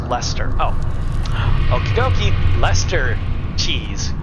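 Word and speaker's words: Leicester: love you elester and Britain is pronounced Lester oh okie dokie Lester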